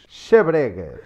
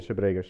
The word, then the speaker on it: Xabregas: Xabregas. Yeah. And I think it's not very easy. If you were with someone from Coimbra, you would probably learn to pronounce the last S a little bit better.